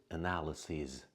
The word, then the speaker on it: analyses: So analysis, the plural form is analyses, sees.